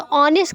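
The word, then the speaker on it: honest: लेकिन मैंने बताया कि लेटर्स पे नहीं जाना है, उसकी प्रोनाउंसिएशन पे जाना है. तो ऑनेस्ट का जब हम प्रोनाउंसिएशन करते हैं तो ओ आ रहा है, ओ, राइट.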